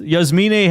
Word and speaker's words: Yasmine: That's the correct pronunciation of her name, by the way. Yasmine.